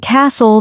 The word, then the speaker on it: castle: For example, in words like no, the K is silent, honest, the H is silent, and castle, the T is silent.